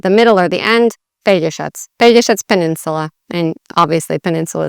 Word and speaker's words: Pelješac: it in Croatian, well, how you'd say it in Croatian is Pelješac. So they have the tricky J, they have the sh, and the C that's a ts, not a k or anything like that.